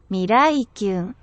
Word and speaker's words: Miraikyun: I also want to thank the translator of the lyrics of this song and Mirakayon. I hope I've said your name properly, but we'll listen to it now, the proper pronunciation. Miraikyu.